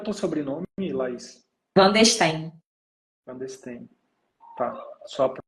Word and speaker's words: Vandesteen: Van der Steen, Clandestino. Tá. Só a pronúncia que eu não sabia.